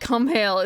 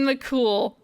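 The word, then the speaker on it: Cumhaill: It's not Cumhale, but it's... Because it's... Fuck. It's MH surrounded by broad vowels. And how do you pronounce that? How do you pronounce that? Like Colin, I remember how to pronounce, but that's only because of rote repetition. Finn McCool. McCool. It's Finn McCool.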